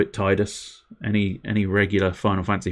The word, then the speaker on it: Tidus: will possibly know that the correct pronunciation quote-unquote correct pronunciation is tidus but i don't like that pronunciation and i am stubborn every now and again so i call him titus uh because i think